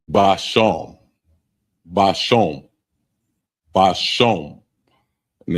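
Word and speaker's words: בשם: And it's spelled Ishab. Ishab. Ashab. And that means herb. Next one is spice. And it's basham.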